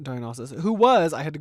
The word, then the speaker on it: Dionysus: It starts off with a cult of Dionysus, I believe is how you say that. Dionysus, who was I had to Google this as well cuz I didn't know.